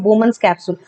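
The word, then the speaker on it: Bowman's capsule: ये जो बोमन्स कैप्सूल है यहाँ पे, ये जो मैंने यहाँ पे मेंशन किया हुआ है, this is हाउ you pronounce it, द बोमन्स कैप्सूल।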